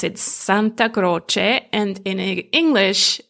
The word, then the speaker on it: Santa Croce: So in Italian, you pronounce it Santa Croce, and in English, Santa Croce. So Santa like Santa Claus, and Croce with a ch sound.